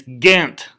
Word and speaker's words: Ghent: gentle booth you know so it's actually treaty of ghent so just when you leave when you leave here and you're in a place with people not from southern west virginia please don't say gent when you're giant when you're talking about the treaty of ghent okay i don't know why